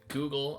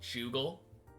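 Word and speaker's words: googol: instead of pronouncing it Google I pronounced it jle like a j a j sound like a soft G he said I wish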